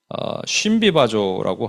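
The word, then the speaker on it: συμβιβάζω: 이게 쉼비바조라고 합니다. 우와 이에 약간 우와 이 숨도 아니고 심도 아니고 쉼비바조 이렇게 발음하는데 이거를 우리말 성경어는 인정하더라라고 되어 있고요.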